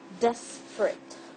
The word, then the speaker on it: desperate: It's not desperate. It's not desperate. It's desperate. It's desperate. This is the pronunciation. Desperate. And it's not desperate. Desperate. This is not A. This is it sound, like short I sound.